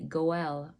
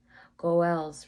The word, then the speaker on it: goel: If a man died or was facing hard times, a goel could help. Goel is spelled G-O'-E-L, and it is the Hebrew word translated as a redeemer and often referred to as a kinsman redeemer.